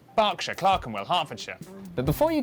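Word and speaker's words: Berkshire: silent norch Beric subk e r is pronounced R barkshire Clarken hartfordshire but before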